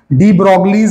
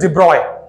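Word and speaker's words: de Broglie: डी ब्रोगलीज hypothesis, वैसे डी ब्रोगली गलत pronunciation है, जब हम लोग डी ब्रोगली लिखते हैं ना ये प्रोनाउंसिएशन बराबर नहीं है, इट इज डी ब्रॉय, इट्स डी ब्रॉय, सो डी ब्रॉय, डी ब्रॉयज hypothesis, इसने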